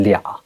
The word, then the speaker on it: 俩: You've probably noticed that when I say 他们两个, okay, I don't say it like that. That's because most native speakers will miss out some of the sounds here. 两个 becomes 俩. So you can either say 他们俩 or you can say 他俩.